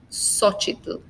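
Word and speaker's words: Xóchitl: And then we have the pronunciation as an S. Xochimilco, Xochitl.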